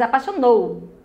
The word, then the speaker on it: apaixonou: Você diz apaixonou. Você não diz apaixonou, tá? Você diz a última sílaba é a sílaba forte.